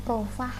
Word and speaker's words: profag: Profage, ini membacanya profah ya. Profah itu adalah genom virus bakteriofag yang sudah jinak.